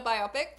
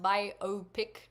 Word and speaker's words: biopic: The word biopic is officially pronounced biopic. According to major dictionaries, biopic is... yeah, I say biopic.